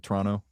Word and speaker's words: Toronto: Toronto uh When you're from Toronto, isn't it basically like two syllables? Like Toronto. Toronto. Toronto. Toronto suburb. Yeah, you definitely don't say the second T in it.